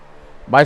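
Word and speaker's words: Hmong: carrying his child um my stepson wants to do the right thing and marry her unfortunately the family who is of of uh Southeast Asian or M that's spelled hm o n g G descent for those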